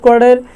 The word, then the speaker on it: where: এরকম আরেকটা হচ্ছে ওয়ার, WHERE, ওয়ার। এই শব্দটিও যদি আমরা উচ্চারণ করি তাহলে এর মধ্যে দেখা যাচ্ছে এসটা কিন্তু সাইলেন্ট থাকে।